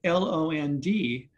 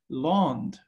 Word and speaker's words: land: we know that because l-a-n-d in middle english would be pronounced with a short a so it would be pronounced lond right l-a-n-d in middle